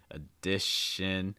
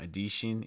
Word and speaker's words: addition: in terms of stress you're going to stress the word addition okay in addition to also watch out for those short eye sounds right lots of short eyes here it's like in addition so it's not adishin it's addition addition so just keep